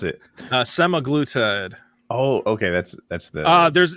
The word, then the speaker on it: semaglutide: How do you pronounce it? Semaglutide.